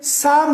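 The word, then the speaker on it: psalm: When this P comes before NS, then it is silent.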